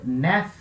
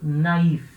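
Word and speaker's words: naïf: Em vez de ler nef, eu leio naif.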